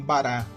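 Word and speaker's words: ברא: Também soprar é um outro verbo bem utilizado, mas o verbo criar, ele no hebraico ele é pronunciado como bará, e esse verbo bará ele traz a seguinte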